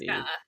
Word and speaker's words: Nome: by the Gnome King, Nome, just so nobody thinks it's a gnome. It's not a gnome, it's a gnome. Like Alaska. Nome. Yes. And the Alaska, what? Nome, Alaska. Oh, I did not know